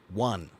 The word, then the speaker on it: one: then practice saying this one okay which is also the same exact pronunciation of the word one I won the game